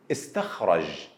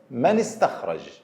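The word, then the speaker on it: استخراج: When I start with connecting Hamza, I pronounced it, istakhraj. But if it's preceded by another word, we will not pronounce it, such as man istakhraj, man istakhraj.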